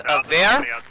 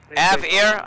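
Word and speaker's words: AVARE: It's AVAIR. A-V-A-R-E. AVAIR. I always pronounce it wrong, but it's for Android devices.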